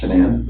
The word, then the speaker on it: Shannan: And I don't want to pronounce her name wrong. Shenane. Shenan. Shannan.